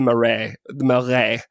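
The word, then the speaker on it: Marais: time but there is one neighborhood called the murray melre with that r in the middle that i can hardly ever pronounce correctly m a m-a-r-a-i-s so that is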